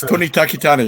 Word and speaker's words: Tony Takitani: had seen was uh i know i'm gonna butcher the tony takatani is that uh yes tony takitani yeah yeah briefly played here